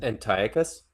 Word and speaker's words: Antiochus: I I actually got into a discussion with somebody a while back about um Antiochus uh specifically in Antiochus.